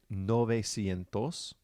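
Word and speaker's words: novecientos: pattern ocho sientos 900 the ue in nueve changes to an o which is no so we get nove sientos and 1000 is mil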